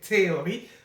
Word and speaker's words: theory: I'm French, so I keep on saying theory, but really in English is the F, the TH is silent, so theories.